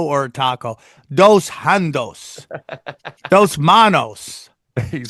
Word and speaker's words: dos manos: Dos handos. Is that how they say it in Spanish when you got 2 hands? Dos handos? Yeah, that's it. Dos manos.